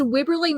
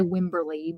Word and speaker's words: Wibberley: Because Wibberley makes me want to say Wimberley, but I say it, I don't know, it's just weird.